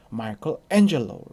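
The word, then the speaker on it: Michelangelo: 테디 오는 미켈란젤로 지만 영어로는 요 마이크 앤 셔서 라고 발음합니다 엔저에 알의 강세를 쓰는 것이죠 마이크 엔젤 너 이렇게 마스터 p 있어서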